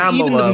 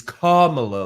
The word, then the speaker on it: Kamala: Okay, so it's not, dude, Kamala, like camel toe. It is Kamala, like communist. Like comma.